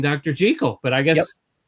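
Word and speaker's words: Jekyll: Jackekal and Mr.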